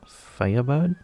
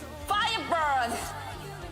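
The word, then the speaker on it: FIRE BIRD: How do you say it? Is it Firebird? No, Firebird. Firebird! Okay, thought so.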